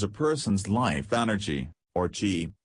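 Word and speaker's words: Qi: person's life energy or tea pronounces Chi everything in us all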